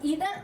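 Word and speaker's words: either: इसको आप आइदर और नाइदर भी बोल सकते हो, क्योंकि एक अमेरिकन जो प्रोनाउंसिएशन है उसकी आइदर नाइदर है, जो इसकी ब्रिटिश प्रोनाउंसिएशन है वो ईदर नीदर है।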